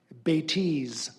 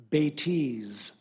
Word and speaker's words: bêtise: The word is Betes. Betes. No alternate pronunciations.